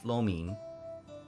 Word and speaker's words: lo mein: pizza and some beef lo mein. I think that's the tonality. I remember Selen teaching me the pronunciation for lo mein in Cantonese. It's like high and then low.